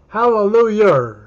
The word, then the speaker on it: hallelujah: But he says the way to pronounce the word is hallelujah, like E-R-N.